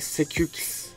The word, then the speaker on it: SecuX: SecurityX yani Sekux gibi bir adı var. Tam olarak telaffuz edemiyoruz Türkçe'de. Fakat Sejuix demek daha mantıklı.